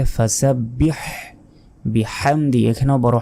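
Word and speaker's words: فسبح: ফাসাব্বি এটাও ভুল কারণ এখানে ছোট হাত নাই এখানে আছে বড় হা বলতে হবে ফাসাব্বিহ বিহামদি এখানেও বড় হা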